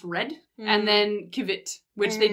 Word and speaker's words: rod: One is rod, R-O-D, it's spelled R-O-D, but it's pronounced red.